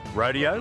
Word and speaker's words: rodeo: Or should I say rodeo, as the locals say it.